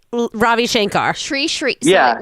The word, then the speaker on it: Sri: Sri Ravi Shankar? Yep, Sri right? Ravi Shankar. Sri. So Yeah. it rhymes with tree.